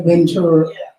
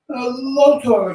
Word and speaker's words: Lotora: Lotora, Lotora, or Lotora. Lotora. Okay. I'm so used to hearing Ventura. I know a lot of people mistakenly say that all the time, Lotora.